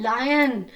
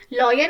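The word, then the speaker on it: lion: कौन सा क्रिएचर है लायन लायन माने कि शेर लायन माने कि शेर तो देखो शेर कैसे चलता है द लायन लॉयन नहीं होता बच्चों लायन होता है ठीक है लायन ओके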